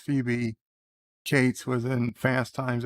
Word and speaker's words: Phoebe: You just watched Phoebe, pronounced Phoebe.